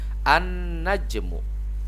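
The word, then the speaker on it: النجم: ya Nah sekarang as-syamsiyah alif lam syamsiah ini lainnya tidak dibaca terus bagaimana cara membacanya langsung kepada huruf setelah lam contoh disini huruf nun maka cara membacanya an najmu seperti itu baik artinya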